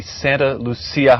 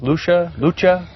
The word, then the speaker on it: Santa Lucia: Locals say Lucia, Lucha? Santa Lucia. Okay. Our Soledad mission is just a few miles south of us here, and so there's much more of a Spanish influence than Italian.